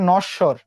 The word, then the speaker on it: নশ্বর: আর ব ফলার কোনো উচ্চারণ হয় নাই, যে বর্ণের সঙ্গে যুক্ত হয়েছিল সেটা উচ্চারণ দুইবার হইলো। ঠিক সেম ভাবে নশ্বর, এটা এক বড়।